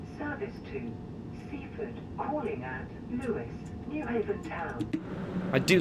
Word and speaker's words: Lewes: Next up, Lewis. And I know it looks as though it should be pronounced Lewes, but it's Lewis, actually. Yeah.